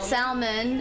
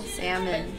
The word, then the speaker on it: salmon: other than English yeah I had a hard time pronouncing super and some salmon oh I said Salman awesome super nummy on still says Salman Salman is it's like normal I think that's more normal salmon so that's just like